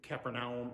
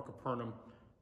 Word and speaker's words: Capernaum: So here we have at the very beginning, Jesus going to this region of Capernaum or Capernaum, however you prefer to pronounce it.